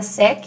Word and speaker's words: sec: Vamos supor, eu vou colocar a palavra sec aqui. Ai, não sei se pronuncio C ou não.